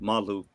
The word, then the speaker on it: Malu: If you guys, that's the way that you pronounce it, Malu.